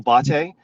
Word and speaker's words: Botte: you out brother it's it's actually pronounced in the Italian pronunciation my name is bate so just you know